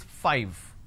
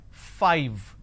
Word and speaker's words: five: a while ago is five all right now the pronunciation is five f i v e five so i need to i need to bite my lower lip to end the word it's five the second one is